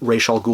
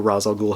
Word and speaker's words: Ra's al Ghul: If you're a fan of Ra's al Ghul or Ra's al Ghul, however you want to pronounce it, then this is a must-have on your shelves.